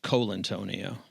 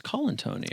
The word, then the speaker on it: Colantonio: And your last name is not pronounced Colantonio. It's Colantonio. Colantonio, even though it's an O.